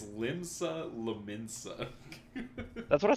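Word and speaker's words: Limsa Lominsa: fantasy one of the starting towns uh it's pronounced limsa linza it's very hard to say you didn't even say it correct it's limsa lensa that's what I said I might have needed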